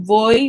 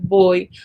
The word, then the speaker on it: voy: And the V in Spanish, sometimes it sounds exactly like a B. Sometimes it sounds like voy when people say it. Sometimes it sounds like boy, boy, boy. It's like the sound for V in Spanish is like halfway between V and B.